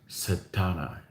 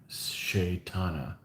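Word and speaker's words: Setanta: The chap's original name was Setana, Shaitanta, Shaitanta. So SE is Shay. Okay.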